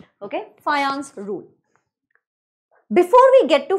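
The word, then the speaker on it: Fajans: of people call it fajan rule fajan rule fajan rule please understand it's not fajan rule it's called as fan rule J is pronounced as y okay fance rule before we get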